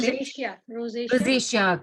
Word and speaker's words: rosacea: I don't know if I'm pronouncing this properly, so I'm going to spell it. Rosacea. Rosacea. Rosacea, correct.